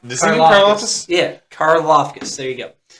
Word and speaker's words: Karlaftis: I really think, and George, I can't hardly say his name, Galifianakis, the end Kansas City's got. I think you build that line if he falls there. Karlaftis? Yeah, Karlaftis.